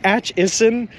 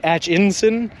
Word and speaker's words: Atchison: I keep adding an N in there for some reason. It's Atchison, not Atchinson, but I want to keep calling it Atchison. It's Atchison. But there's a reason, because there's an Atchinson from Massachusetts, where I'm from, and I know that place. So I keep saying it wrong.